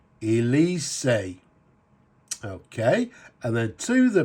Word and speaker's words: Elysee: And you'll see there it says, I think I called it Elise or something, and I believe it's actually pronounced Elise. Elysee.